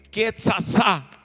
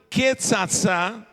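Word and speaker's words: קצצה: Mas não é uma transliteração fiel, porque com duas letras, com tzadik, que é uma pronúncia que não existe no Brasil, em português, que é TS, o TS, tzatzetsitsotsu.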